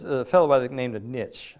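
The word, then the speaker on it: Nietzsche: fellow by the named a niche I think is name is pronounced it's Nei TZ s h e he's a philos philosopher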